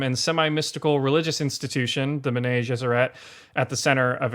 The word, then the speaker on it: Bene Gesserit: Bene Gesserit, right? Bene Gesserit. Yeah, I always wanted like Frenchify it, and it doesn't work.